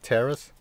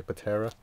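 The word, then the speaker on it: Ptera: Next I just run 2 Jurrac Terras, and like I said in my other video, the P is silent, like pterodactyl, Terra. You don't say Patera.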